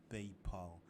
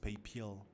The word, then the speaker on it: PayPal: a video on paypal paypal where they actually tease me for not knowing how to pronounce in people they say i pronounced papil with an il at the end paypal paypal whatever but no i don't